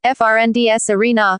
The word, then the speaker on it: Friends Arena: Friends Arena, Swedish pronunciation, FRNDS Arena, is a retractable roof multi-purpose stadium located next to the Lake Råstasjon in Solna, just north of Stockholm City Centre.